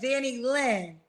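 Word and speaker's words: Danilyn: Danny Lynn.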